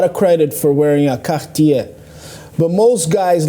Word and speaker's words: Cartier: that what kind of watch is that Cartier Cartier yeah you gotta say it like that and